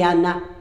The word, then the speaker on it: Anna: sa fille c'est Anne il marqué Anne mais c'est Anna c'est puis sa femme